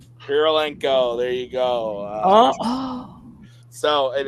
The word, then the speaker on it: Kurylenko: I don't know how to say this girl's name, but it's Olga Kurylenko. Kurylenko.